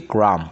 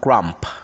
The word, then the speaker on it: crumb: crumb before they arrived yeah cookie crumb not grump yeah doubt get rid